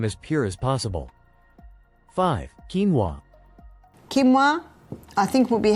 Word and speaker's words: quinoa: become familiar with it's spelled quoa but it's pronounced quinoa the Aztecs love their quinoa Aussies are starting